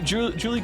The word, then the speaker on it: Juli: It's Spanish. It's Juli, like Juli.